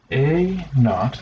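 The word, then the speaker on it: A₀: It's going to be A naught-- that's how you pronounce that.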